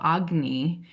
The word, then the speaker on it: Agni: at in Ayurveda, which is what we call agny, which is spelled agni, which is the digestive fire.